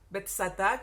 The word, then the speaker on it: Betzatá: El estanque de Betesda, o Betzatá, como se pronuncia en hebreo, es un estanque que existe ahora en una de las partes de la ciudad vieja de Jerusalén.